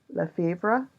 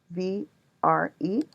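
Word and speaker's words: Lièvre: The director mistypes her last name, Lefevre. I don't think I'm pronouncing that right. It's Lievre as livre, which is French for book.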